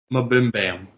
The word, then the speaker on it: MBMBAM: Sorry, it's pronounced Mabimbam is how it's pronounced. But like they shorthand it to MBMBAM, and they say welcome to Mabimbam.